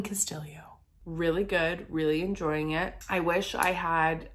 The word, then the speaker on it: Castillo: by Elaine Castillo hi it is revealed as you read the book that she pronounces her last name Castillo and so I wanted to correct that Elaine Castillo really good really enjoying